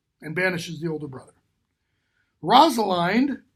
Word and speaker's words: Rosalind: Rosalind, or Rosalind, depending on how you pronounce it, but in order to make it fit the rhyme in the play, it's Rosalind, if I'm remembering correctly.